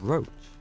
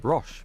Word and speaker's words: Roche: Talk to Vernon Roach. I would have pronounced that Roche myself, but guess I would be wrong.